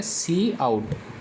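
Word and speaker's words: cout: भी बोलते हैं और इसको प्रोनाउंस किया जाता है सी आहट कि इसके अंदर एक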